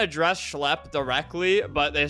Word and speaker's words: Schlep: It's pronounced Schlep.